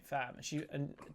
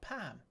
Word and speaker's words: Pham: She said she spelt her name Fam, and her boss went, "You sure it's not Pam?" And she went, "No, it's not. What? That is because it's spelled Pham."